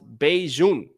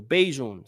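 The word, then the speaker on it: Bajan: It's pronounced Beijing. All right. What you call someone from Barbados. Oh, that's pretty cool. I had no idea. So thank you for that. So Beijing.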